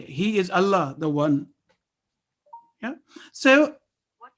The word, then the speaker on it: Allah: Always remember that lam in Allah is lam jalala. There is a rule associated with it. It is always pronounced with thick or heavy sound if preceded with a letter carrying fatha or dhamma.